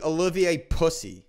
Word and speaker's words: Olivier: name a little ba uh no it's actually Olivier oh I don't think that's